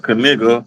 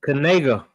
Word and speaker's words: Knigga: That's that's going to be something to watch unfold with uh Kigga. Kigga, you know how you say it again? It is. It's Kanega.